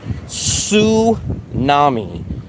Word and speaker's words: tsunami: The H is silent, just like in tsunami. The T is silent.